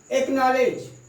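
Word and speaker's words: acknowledge: एक्नॉलेज, scene, इस तरह से आप देख रहे हैं कि सी जो है साइलेंट हो जा रहा है।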